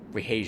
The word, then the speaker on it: Rahasia: Rahasia, that's how you say her name.